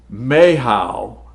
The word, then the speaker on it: Michal: So if you were to use Michal, and I'm just pronouncing it probably horrible, but that's how I pronounce it in the English, it would be Mahal. Mahal is how it's said in the Hebrew language, is her name.